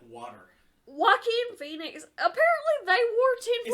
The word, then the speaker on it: Joaquin: Jaquan Phoenix in like water. Joaquin Phoenix.